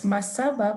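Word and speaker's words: Mmasaba: It's Masaba, but it's written with a double M. So most people find it, yeah, like just as it's finding it hard to just pronounce it as Masaba.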